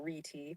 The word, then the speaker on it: Rete: Charles Forgy at CMU came up with the Rete algorithm, pronounced Rete or Rete, in 1974 to solve this.